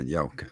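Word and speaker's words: Yelchin: Yeah, Yelkin. That's how you say it.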